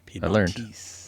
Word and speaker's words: Piedmontese: Piedmontese.